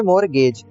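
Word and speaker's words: mortgage: दोस्तों इसको बोलेंगे मोरगेज। मैं ऊपर गलती से मोर्टेज बोलते आ रहा हूँ, यहाँ पे टी साइलेंट है, यहाँ पे जी साइलेंट नहीं है, इसको हम बोलेंगे मोरगेज।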